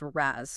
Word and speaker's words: RAS: Okay, this is where the renin angotensin eldoststerone system or RAS often pronounced RAZ comes into play.